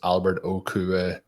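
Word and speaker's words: Okwuegbunam: he was telling us the correct way to pronounce alberto's name is albert okube blake jarwin so yeah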